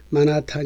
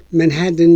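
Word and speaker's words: Manhattan: 들어 솥 위에 지적했듯이 man 회 치 han 이라는 철자를 가진 섬 의 발음을 우리는 흔히 많아 탄 이나 내 나탄 이라고 하지만 실제로 듣게 되는 내내 든 이라고 발음하는 것을 듣게 됩니다 t 잠이 되서리 로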